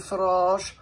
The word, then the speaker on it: Farage: jump right in with Mr farage who we're reliably informed by Matty rhymes with garage so I don't know